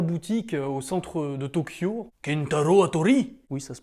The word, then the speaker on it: Kentaro Hattori: Kentaro Hattori. Oui, ça se prononce comme ça, oui.